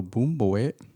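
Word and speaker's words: bún bò Huế: a little bit more so boom boy that's that's how you say it it's about like b u n space b o space h-u-e boom boy and it's more of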